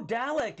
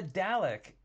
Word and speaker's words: Dalek: like it's a snow dalek is what it is that is a dalek or a dalek depending on how you like to pronounce it dalek dalek really great